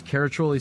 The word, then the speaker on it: Caraccioli: our Tasting Room in downtown Carmel California that's caratroly sellers c-a-r-a-c-c-i-o-l-i sellers where you have to spell it to drink it thank you holy smokes